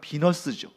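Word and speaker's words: Venus: 신화에서는 베누스 신이 되는데, 베누스 여신이 되는데, 베누스 하면 이게 무슨 신인지 좀 생소하잖아요. 근데 이게 왜 그러냐면 사실은 베누스라고 발음을 해야 되는데 이거를 자꾸 우리는 영어식으로 이제 전달받았기 때문이에요. 베누스를 영어식으로 발음하면 비너스입니다.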